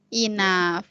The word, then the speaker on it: enough: Patiently enough. Nah, enough itu nanti dibacanya F. GH ini F. Enough gitu.